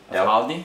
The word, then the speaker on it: Aldi: Aldi? Aldi.